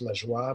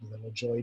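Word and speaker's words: La Joie: bridge river hydro system the joy dam which should be pronounced le joy but all called little joy dam um the safety plans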